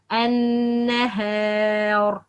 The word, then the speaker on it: النهار: النهار النهار, not النهار. That's wrong. النهار, that's wrong. But the right, النهار.